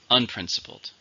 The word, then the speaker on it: unprincipled: can trust him finally unprincipled showing no moral rules or standards adjectives four syllables stress is on the second unprincipled his unprincipled management